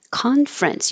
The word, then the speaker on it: conference: Conference. Conference. We drop the middle ER so it's not conference, but just two syllables.